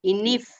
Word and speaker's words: INIF: Interpretaciones de las NIF o INFI, así se pronuncia. INIF.